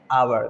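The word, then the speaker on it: hour: लोग ध्यान में रखिएगा की ओ से पहले साइलेंट होता है इसलिए इसको पढ़ने हैं अवर दिस इसे राइट साउंड ऑफ दिस शब्द अवर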